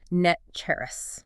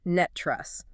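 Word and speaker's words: NTREIS: that locals pronounce it net cherris. Net cherris? Right. The last syllable ends in a rus sound, exactly like the word rust. Net cherrus.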